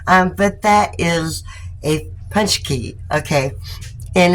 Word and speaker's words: paczki: but that is a punch key okay and it is spelled p a c z k i but it's pronounced punch key okay and what is